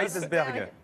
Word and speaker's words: Kaysersberg: Voilà, je ne le prononcerai pas. C'est en Alsace. Kaysersberg.